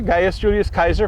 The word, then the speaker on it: Gaius Julius Caesar: My classical pronunciation from 3 years of Latin, thank you very much. Gaius Julius Caesar, Gaius Julius Kaiser, from which Kaiser, role, is also named.